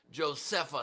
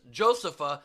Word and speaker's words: Josepha: you pronounce it, and it's just Joseph with an A at the end.